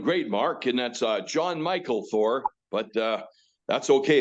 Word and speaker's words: Mikl: today I'm doing great Mark and that's John Michael Thor but uh that's okay it's spelled funny m i KL spelled funny I